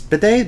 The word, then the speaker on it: bidet: i went to spain with bidets thankfully badets bidet but that i don't even pronounce that i can't english hold on or